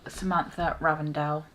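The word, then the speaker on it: Samantha Ravndahl: I bought this because of Samantha Ravendell. That's how you pronounce her name.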